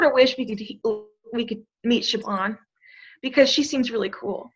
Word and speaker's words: Siobhan: I don't know how do you pronounce her name? Siobhan.